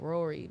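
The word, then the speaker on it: Raury: No, not Earth Gang, but it's a dude called Rory, but it's spelled like R-A-U.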